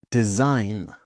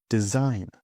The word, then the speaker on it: design: Design. Design.